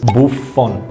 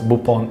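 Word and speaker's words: Buffon: korea if you can i know you don't pronounce the f but it is buff phone if you can make it otherwise bupon is okay too one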